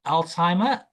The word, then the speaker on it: Alzheimer: also struggle with But Alzheimer is the correct pronunciation of that is it's an illness where you tend to forget your memory is not um very good.